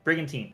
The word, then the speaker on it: brigantine: That might be the pronunciation. That's actually perfect. I like it. Looks great. I just Googled it. That's perfect. Brigantine. That's what it is.